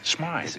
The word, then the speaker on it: Smythe: Smith. Smythe. It is pronounced Smythe.